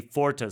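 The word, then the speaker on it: Pforta: very prestigious academy, the Forta School, a school in a former Cistercian monastery outside of Naumburg. And if you do look it up, it's spelled P-F-O-R-T-A, not just F-O-R-T-A.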